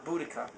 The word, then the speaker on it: Boudica: I try to pronounce her name well. It's Boudica.